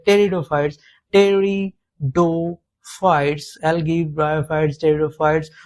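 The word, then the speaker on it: pteridophyte: उसके अंदर प्लांट के अंदर एल्ग, ब्रायोफाइट, टेरिडोफाइट, जिनोस्पर्म, एंजियोस्पर्म रहता है। ठीक? यहां पे देखिए पी पी यहां पे साइलेंट रहता है इसलिए इसको टेरियोफाइट्स ही पढ़ा जाता है।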